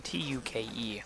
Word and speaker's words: toque: yes it even that gives you a press pronunciation in the description tu ke would be how that's pronounced so toque hopefully it's